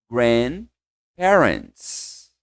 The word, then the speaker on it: grandparents: Grand parents. Gente, esse D é quase mudo, tá? Você não fala grand parents. Não é forte o D.